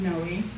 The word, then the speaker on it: Noe: We only knew of one other Noe family in the area, and they actually pronounced it No, and they were from San Antonio.